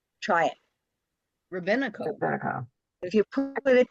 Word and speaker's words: rabino: we're not that huge the second word is Rabino Rabino one word one one accent try it Rabino Rino if you put it together it sounds